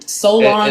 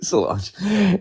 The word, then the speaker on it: Solange: Solange. No, Solon, right? That's how you pronounce it.